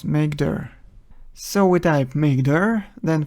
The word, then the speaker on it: mkdir: For creating folders in Linux, we use mkdir command which is usually pronounced as make.